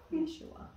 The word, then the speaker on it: Yeshua: Do you guys know how they pronounce it in Hebrew? Jesus. It's not Jesus. I love that. Sounds good. Yeah. Yeshua. Yeah. Yeshua.